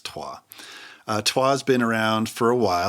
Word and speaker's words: Troyes: Or Troyes, as most people call it. But the correct pronunciation, I believe, is Troyes.